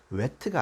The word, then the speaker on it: whet: 사실 wet가 아니고 wet를 내야 돼요. 근데 이 두 발음이 너무 비슷합니다. WH가 들어있는데 사실 H가 발음이 거의 안 되기 때문에 wet 되는데 이 wet란 것은 풍미를 돋우다예요.